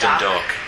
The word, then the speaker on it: Dundalk: That sounds like Dundalk, but no, it's the L is silent. It's just Dundalk.